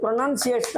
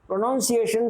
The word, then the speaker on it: pronunciation: இது ப்ரொனன்சியேஷன் தான் சொல்லணும், ப்ரொனவுன்சியேஷன் சொல்லக்கூடாது. PRONUN வரணும், NUNCIATI ப்ரொனன்சியேஷன். அதான் மேலே போட்டிருக்கோம்.